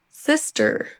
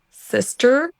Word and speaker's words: sister: Sister, sister better. Easier, easier. Mais notez qu'on ne prononcera pas le e + r comme on le ferait en français. Ne dites surtout pas, sister, better, butter, easier.